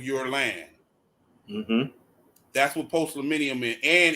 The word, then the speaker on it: postliminy: Yeah, that the concept that you're referring to is called post-millennium. It's spelled POSTLIMINY.